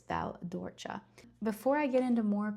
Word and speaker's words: Val d'Orcia: The province is Siena and then the exact area is called Val d'Orcia. Not Val d'Orcia, not Val d'Orci. Um Val d'Orcia. So, again the c is pronounced like a ch.